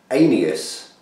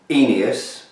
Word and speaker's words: Aeneas: heus um by reinch it's very very hard to pronounce and I spent hours having a look and everywhere seems to have different ideas of how to pronounce it it's actually spell a e n e a s anus demo um but it